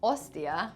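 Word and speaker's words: hostia: why does Mannion say Ostia oh and the search is spelt wrong so that's because in Spanish you don't pronounce the H it is a silent letter like ins like in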